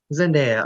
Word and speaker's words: Zendaya: she just wanna just wanna correct you it's pronouncing daya zendaya okay zendaya yes india but keep keep going